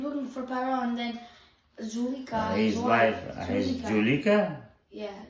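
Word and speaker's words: Zuleika: So they say her name Julika? Whatever. Zulika.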